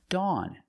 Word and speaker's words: dawn: Dawn. Dawn has aw and aw makes the sound aw like on and off. So you hear the same sound.